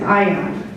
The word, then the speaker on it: Ayan: Ion, like I-O-N. It's spelled differently, but that was the